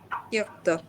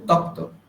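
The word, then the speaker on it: त्यक्त: তয় জফলা তাহলে কি হবে? ত্যক্ত। ত্যক্ত, আপনি বলছেন তক্ত, সেটা ভুল, ত্যক্ত।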